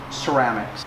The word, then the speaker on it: Ceram-X: This is the Ceram-X. It's kind of a play on words. It's like ceramic coating, but it's Ceram-X. So you just pronounce it Ceram-X.